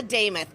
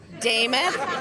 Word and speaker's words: Demuth: And as your next nominee as a Republican for governor, my name is Lisa Demuth. I'm going to give you the easiest way to understand that. It rhymes with Joe Namath. Demuth, Namath.